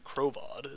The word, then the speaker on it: Krovod: Krovod is how you actually pronounce that word.